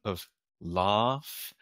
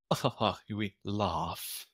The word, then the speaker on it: laugh: hear my British pronunciation of laugh it's that long a you get from Bath chance answer fast we laugh uh and the americ